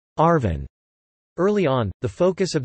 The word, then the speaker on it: ARVN: the Republic of Vietnam ARVN pronounced Arvin early on the focus